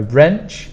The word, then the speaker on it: wrench: sizes of socket wrenches please remember there is a w in this word that you don't pronounce Vice or bench vise